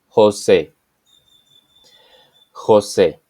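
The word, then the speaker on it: José: music La nacion Nation the letter s is always pronounced as s and never as Z example Jose Jose the letter H is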